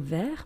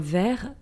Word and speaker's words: ver: But it's with a T at the end, we just don't pronounce it. And then you have a glass, un verre, but it's V-E-R-R-E.